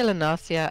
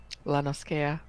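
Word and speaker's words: La Noscea: I always take it as it being quite a piratey place and them not using a soft C.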